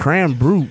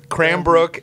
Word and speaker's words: Cranbrook: I've been saying it wrong all week. Cram brute. What are you, Yes. Canadian? Cram brute. Yes, I am. Groot. It's true. Cranbrook Institute of Science.